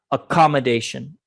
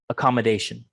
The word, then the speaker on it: accommodation: words we just saw accommodation accommodation please repeat after me when i say that accommodation it's second syllable stress accommodation accommodation and you also